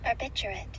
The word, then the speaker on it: barbiturate: Define Barb ter so barbituate how do you pronounce it barbiturate yeah barbiturate it is any class of sedative